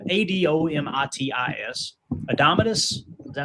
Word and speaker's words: Adomitis: Adomitis.